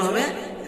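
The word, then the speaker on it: ه: এই হা উচ্চারণের সময় কোনো চাপা যাবে না, তা হালকা ভাবে বলতে হবে।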